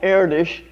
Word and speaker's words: Erdős: One of my culture heroes, a wonderful mathematician, Hungarian mathematician called Erdős, which is spelled E-R-D-O-Z, but you know how the Hungarians are about pronouncing things.